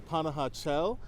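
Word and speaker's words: Panajachel: the time all right we have arrived the panah chel I got the pronunciation down now we're waiting for our boat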